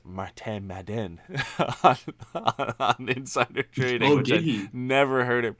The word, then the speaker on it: Martin Madden: point out that uh it's pronounced martin madden never heard it pronounced